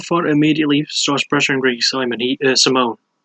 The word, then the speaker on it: Simon: So, fight starts as usual, and Rob Font immediately starts pressuring Ricky Simone. I have to remember it's pronounced Simone.